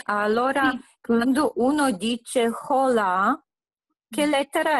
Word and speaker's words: hola: La H è muta, si dice allora. Hola.